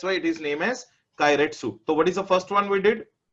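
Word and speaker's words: keiretsu: Mm, It is known as Kairetsu. What is the name of the business? Kairetsu. Kairetsu. It's a Japanese word.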